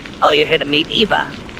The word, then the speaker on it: Aoife: you're here to meet Eva." Keep in mind that Aoife and Aoife are phonetically almost identical names.